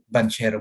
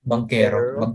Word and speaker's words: Banchero: Banchero, ano ba? Bankero, diba? Bankero. Parang Chris. Dati kasi sa Pilipinas. Banchero kasi dati. Pero sabi ni Chris, ba? Bankero daw. Bankero daw yung... pero Banchero la yung pronunciation kasi.